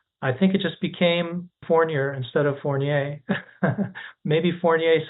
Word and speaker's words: Fournier: you and now your last name starts with an F forer I'm seeing I'm wondering why you're not pronouncing It the French way porier there's a story behind